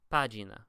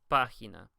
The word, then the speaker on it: página: is you'll notice that the G is not pronounced like a J. It's not pronounced página, right? Instead, we pronounce it página. Basically, the rule is is that if a G is next to an E or an I, for all intents and purposes, it's pronounced like an English H.